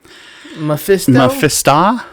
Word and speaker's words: Mephisto: I think you're hitting the wrong syllables. I think it's Mephisto. Mephisto.